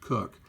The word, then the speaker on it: Coke: the 17th century lord cook i know that looks like coke but it's pronounced cook differentiated between natural persons